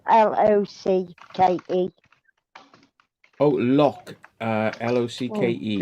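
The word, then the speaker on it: Locke: Oh, Lock. L-O-C-K-E. It's a bit like Locky and Key, like but it's spelled lock with an E on the end of it.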